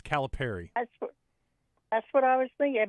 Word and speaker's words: Calipari: Is it Calipari, Calipari? Calipari. Perry. Okay. Like, you can either in your mind think of a pair of socks. Me, I think of the fruit, the pear.